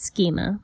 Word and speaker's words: schema: It's actually pronounced schema.